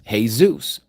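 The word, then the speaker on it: Jesús: First of all, Zeus is Hey, Zeus. You say Jesus. Our Spanish- speakaking brothers and sisters pronounce it correctly.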